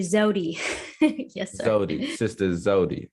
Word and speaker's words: Zewdy: Is that how you pronounce it? It's actually Zewdy.